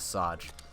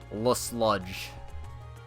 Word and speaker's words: Lesage: acceptable it is indeed I keep saying with saj Lesage like that's not even the French pronunciation for it let's lodge boom got'em that is